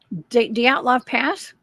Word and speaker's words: Dyatlov Pass: Dyatlov Pass? Yeah, that's how you pronounce it.